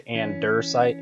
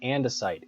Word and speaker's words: andesite: Yes, some people say andersite, and I just have to make sure that I'm saying it correctly. The reason why I'm using andesite is because of the mining rate.